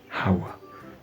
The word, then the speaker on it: hour: you will see an hour because it start with H also that H also is not pronounced the H is silent in the pronunciation the pronunciation start from the whole.